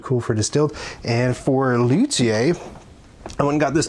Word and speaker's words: luthier: You can pronounce it luier or luier if you want to, but I I try to pronounce it the the French way, even though it's a lone word. Lut lutier.